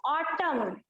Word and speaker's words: autumn: फिर ऑटम, autumn, ऑटम, फिर और कोई वर्ड बताइए जिसमें एन साइलेंट हो, कौन बताएगा?